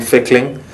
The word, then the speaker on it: Fickling: It's Fickling, like tickling with an F.